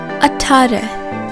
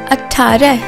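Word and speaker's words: अठारह: 18 in Hindi is called Atari Atari Atari although some people do pronounce it as être you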